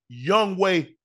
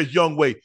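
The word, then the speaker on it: Younghoe: is his name that's the way that it's pronounced young way but it's fail because no she put it on there young way but if you go look at g o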